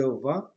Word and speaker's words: vends: I don't pronounce the last S. I say je vends, tu vends, il vend.